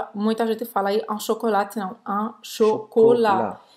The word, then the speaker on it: chocolat: o T do chocolate. Pas de chocolat.